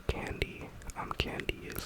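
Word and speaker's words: kandi: Um here what you see people wearing are the bracelets are called candy. Um candy is spelled K A N D I.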